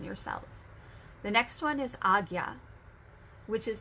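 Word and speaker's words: Ajna: But it's pronounced Agya. At least that's the pronunciation I was taught.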